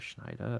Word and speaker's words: Schneider: Yeah, Oswaldo's full name is Oswaldo Schneider. I believe that's how you say it. You got it. You did it. Your pronunciation's getting so good.